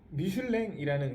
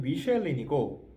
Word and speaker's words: Michelin: 그러니까 미슐랭이라는 그러니까 우리가 이 영어로 발음으로는 미쉐린이고 여러분들 아는 그 타이어 회사 있잖아요.